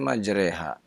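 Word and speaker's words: مجراها: ke 41 itu bacaan majroha atau majreha karena saya dengar orang bisa bacanya majreha mohon night penjelasannya Ustadz jazakallah Khair surat hud surat ke-11 dibaca majreha karena itu salah satu riwayat dari Hafiz anosim yang kita baca di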